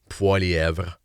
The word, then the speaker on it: Poilievre: His French name, Poilievre, was how you pronounce it properly.